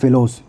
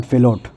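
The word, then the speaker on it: Fallot: Tetralogy of फेलोस, this is नॉट फेलोट, this is फेलोस, this is वन ऑफ the pronunciation which I remember जो ना right.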